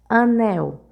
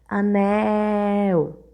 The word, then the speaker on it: anel: então ele é proparoxítona anel Observe anel Demoramos mais na sílaba Mel por isso ela é a sílaba tônica da palavra mel e como ela é a última sílaba da palavra ela é oxítona sabe a gente quando